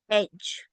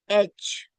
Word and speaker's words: edge: And this is edge. Edge. Okay, at the beginning, and D is silent here.